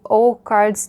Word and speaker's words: OH Cards: It's one of the O cards decks. I guess it's pronounced O cards in English, and I would like